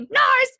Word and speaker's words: Narz: Phonetically it's supposed to be Narz, but I would destroy